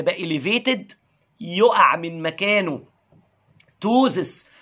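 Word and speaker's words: ptosis: اليفيتد يقع من مكانه توزس، وخلي بالك البي سايلنت ما بتنطقش، ما تعرقش، نص وشك يعرق والنص البايظ ما يعرقش، ان هايد روزس.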